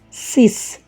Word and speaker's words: six: it comes alone it is pronunciated as sis whereas this word sis takes different pronunciation when it comes in front of a vowel sound for example six children this sentence should not be pronunciated as sisanfa it should be pronunciated as see the third case what